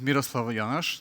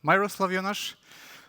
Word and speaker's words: Miroslav Jonaš: me just briefly introduce myself my name is Miroslava Yash not my rustle of Enosh that's why my handle has this double e